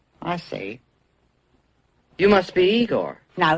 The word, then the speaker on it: Igor: E quando o Corcunda encontra ele, que ele é Igor e Igor, aí você fala, é genial, eu acabei dando risada.